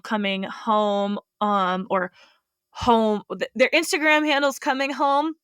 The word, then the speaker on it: HOEM: Um I think home retreats and workshops is their like business name and it's spelled H O E M because it is the first two letters of their names together.